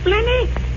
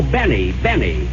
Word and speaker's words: Benny: Jack Blenny? Blenny? No, Benny. The L is silent.